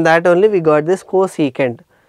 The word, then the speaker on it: cosecant: that is defined as cosecant theta it is actually cosec but we always pronounce it as cosecant theta clear aren't you thinking